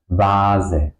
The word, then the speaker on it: Vase: In German, we have some important words, some exceptions like for example vase. So it's not f or it's it's also not November. Practice November vase. November. In these cases, it's pronounced like uh German W. Okay? Like a typical English v.